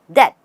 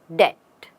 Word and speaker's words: debt: debt with the B the only thing we don't need is the B again we say debt just debt he worked hard to